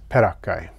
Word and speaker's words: peraccae: and since perakka is pronounced with a hard c sound so is perakai as far as i